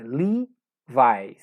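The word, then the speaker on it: Levi's: link vai lhe vais não é leves na pronúncia correta em inglesa lee vai esse e tem pronúncia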